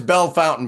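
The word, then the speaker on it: Bellefontaine: the tiniest little of towns nobody can even pronounce the name that's Bell Fountain by the way where is it right here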